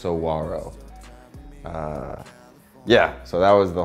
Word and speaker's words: Saguaro: called the Saguaro which I've learned now is pronounced Saguaro yeah so that was the whole point of